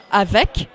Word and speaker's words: avec: The only exceptions are the letters C, R, F, and L, and you can remember them by thinking of the word careful. So you will pronounce the last letter in avec, sec, œuf, bref, il.